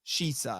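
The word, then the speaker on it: Shisa: Caesar, King Caesar, but it's all mispronunciations of Shisha. Shisha. Yeah, like as they say, King Shisha, but it's to the dubbers, it sounded like Caesar, which then got permutated into Caesar, and then Toho being Toho, just to like trademark.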